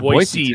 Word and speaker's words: Boise: You two are seasoned Boise tips. There. You have to say it right. Boise, not Boise. I know how to say it.